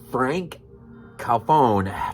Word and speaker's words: Franck Khalfoun: film maniac right uh in 2012 man uh Frank calfone that's how you say it man in conjunction